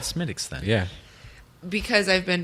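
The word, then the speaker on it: Smithwick's: faster whereas you this the smithwicks maybe uh smittix but it is spelled smithwicks it's like how I'm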